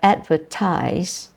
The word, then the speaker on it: advertise: There are some studies have shown why this happens, and that is because words like advertise, in English, advertise, ADVERTISE or ZE, if you're American, is ZE. Advertise is pronounced eyes, and it is carried